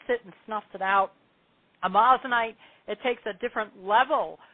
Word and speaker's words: amazonite: And then the next stone, the last stone is amazinite or amazonite. A lot of people, it's spelled amazonite.